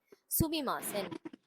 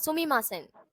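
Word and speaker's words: すみません: சுமிமாசன்.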